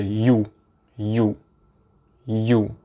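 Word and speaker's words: ю: is also relatively easy is the you you you and the english equivalent would be the word for you like you the viewer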